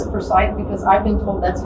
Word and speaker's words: Forsyth: I think he's just one of, and I pronounce it Forsyth because I've been told that's how the family pronounces it. A lot of people say Forsyth, but I've been told by the.